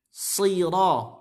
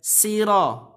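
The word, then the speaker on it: الصراط: Dan shadnya ini adalah termasuk huruf isti'la. Maka dia harus tebal. Meskipun dalam keadaan kasrah sekalipun tebal. So, si, su, si. Bukan si. Nah, kebanyakan jadi ihdinas siratal. Si. Jadinya sin. Aturan apa? Si. Siro. Bukan siro. Atau mungkin ada yang siro. Maka ini tidak benar.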